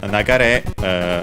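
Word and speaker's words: 流れ: But Nagare also on its own, and luckily in this case it's accented on the final syllable, as it's the rule for nouns from accented verbs.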